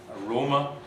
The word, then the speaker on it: aroma: Now look at the syllable on its left, the antepenultimate syllable. In C2 there, it has a long vowel or diphthong, aroma, arena. That means it's heavy.